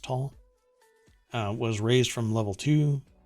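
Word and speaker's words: Taal: alert level for tahul t-a-a-l volcano was raised i think it's pronounced tall was raised from level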